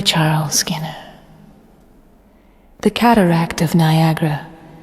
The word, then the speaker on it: Niagara: The cataract of Niagara, properly pronounced Niagara or Oniagara, is as fatal as